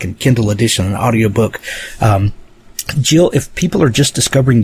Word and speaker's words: Gill: Gill, if people are just discovering you and your work, where might they find you online to get plugged into all you do?